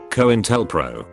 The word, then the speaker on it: COINTELPRO: So do you pronounce it COINTELPRO or COINTELPRO? COINTELPRO.